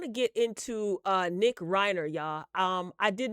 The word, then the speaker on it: Reiner: So, um, in case you're wondering what the heck happened, um, Nick Rener is the son of Robert and Michelle. Rob, I'm saying Robert. Rob and Michelle. Uh, Reiner.